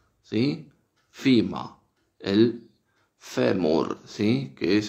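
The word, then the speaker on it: femur: Justamente el nombre es el que está a la derecha en este par, que es, en inglés se pronuncia FIMA, FIMA, ¿sí? FIMA, el fémur, ¿sí?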